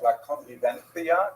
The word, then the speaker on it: La Convivencia: Spaniards would say something like La Convivencia because they pronounce that C as a TH sound.